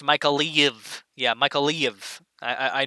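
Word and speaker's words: Mykolaiv: areas here first yeah as mother sake says michael leave is pronounced micah leave yeah michael leave i i know it's a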